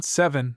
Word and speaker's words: seven: In the same class of errors is that of making an extra syllable in such words as even seven heaven 11 and given where properly the e is elided leaving he and so forth.